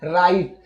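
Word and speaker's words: write: Next में है राइट। ये बहुत फेमस वर्ड है, सारे जो वर्ड हैं सभी फेमस हैं। यहाँ देख लीजिए डब्लू के बाद फिर आर आ रहा है, तो इसलिए हम लोग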